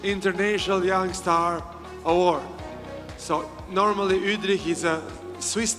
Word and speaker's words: Wüthrich: So normally Udri is a Swiss name. I used to call it Wri but he always correct me. He says the right pronunciation is Udri.